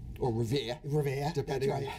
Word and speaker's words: Revere: the Executive Director of the Housing Authority in Revere. Correct. Or Revere.